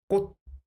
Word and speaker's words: 꽃: What is the sound of this syll without the final costume? Yes. And add the sound of the final concer, it becomes 꽃.